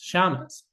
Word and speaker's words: Shammas: So they combine it into a name no one can pronounce, Shamas. So when I go to the mosque, people call me Shams. And there's plenty of people call me Sheamus.